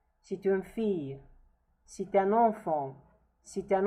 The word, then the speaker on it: fille: Again, I remember you that the double L here is pronounced as ye. C'est une fille, c'est un enfant, c'est un enfant.